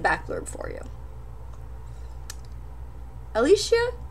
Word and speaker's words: Alicia: back blurb for you Alicia or Alicia I'm not sure how I've seen it pronounced sort of both ways but um I I think Alicia Alicia usually has an e in it and this doesn't or is the other way around because Alicia Keys is spelled this way a l i c i a so I think it's Alicia um yeah so I'm